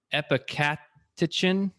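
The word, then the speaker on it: epicatechin: specific flavonol that helps very hard to pronounce it's epicaticin yeah so e-p-i-c-a-t if anyone wants to google it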